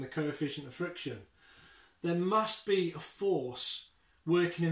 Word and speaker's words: mu: it looks like a little u and it's pronounced mu mu and that's that's the greek so the